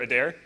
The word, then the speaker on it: Adair: name uh Owen Owen so the the E is silent okay all right and neat and you're a dare okay a dare all right so this is